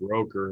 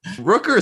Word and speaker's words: Rooker: play of the day his name can't be pronounced roker or whatever what is it rooker i see i honestly like rooker or something rooker yeah that that